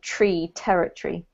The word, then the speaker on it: territory: one's not incorrect but we generally native speakers kind of squash it up so we end up with territory territory territory yeah so rather than emphasizing every single syllable we squish up the last part so it becomes like tree territory okay yeah i know